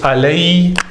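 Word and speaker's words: عليه: Yeah, so if you look at the other ones such as Allah, right, becomes alayhi, alayhi, alayhi. Ila becomes ilayhi, alayhi and ilayhi. Okay, it's just the rule of pronunciation.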